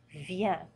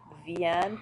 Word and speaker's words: vient: Je viens, tu viens, il, elle, ou on vient. Notice they're all pronounced the same.